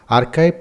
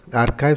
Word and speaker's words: arXiv: arXiv pronounced archive because the X stands for C. The 22nd letter of the Greek alphabet is a gigantic online